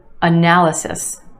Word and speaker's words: analysis: Analysis, analysis. 4 syllables in this word with emphasis on the second syllable, the sound, analysis. And yes, there are 2 schwas in this word.